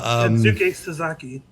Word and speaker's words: Kensuke Sasaki: Kin Saki. Oh, Kensuke Sasaki.